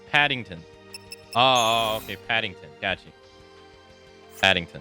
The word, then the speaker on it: Paddington: recall a single movie it's pronounced Paddington oh okay Paddington gotcha